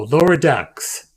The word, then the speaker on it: Lower Decks: I mispronounced one word and it comes at me. No, Lower Decks.